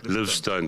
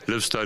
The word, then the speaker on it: Liv Stone: Is that how you pronounce it? Leave Stone. Liv Stone. Thank you. Liv Stone it is.